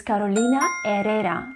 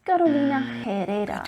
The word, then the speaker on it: Carolina Herrera: the letter h because the letter h in spanish is silent and should not be pronounced ever remember it is carolina herrera not carolina herrera girl feminine fragrance by